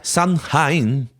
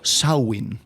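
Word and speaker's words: Samhain: el festival Celta de sunin que ocurra al final del verano Perdón es traducción ese pronunciación irlandesa sawin Ah sawin verdad sawin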